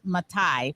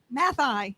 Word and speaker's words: Mathai: to admit i um mispronounced your name because i thought it was matai but it is math i mathematical these two are conducting